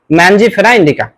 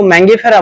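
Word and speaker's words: Mangifera indica: এর বৈজ্ঞানিক নাম হচ্ছে ম্যানজিফেরা ইন্ডিকা। নামের উচ্চারণের দিক থেকে কেউ ম্যাঙ্গিফেরা বলে, কেউ বা ম্যানজিফেরা বলে, সমস্যা নেই।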